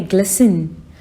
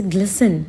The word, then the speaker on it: glisten: Now what do you mean by glisten? Here the T will be silent. This will be pronounced as a glisten, not glisten.